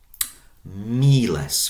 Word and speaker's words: miles: Miles, focus on that long first syllable.